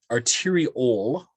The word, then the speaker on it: arteriole: don't we say venue arteriole o-l-e or tyra ewell we don't say ule i don't know why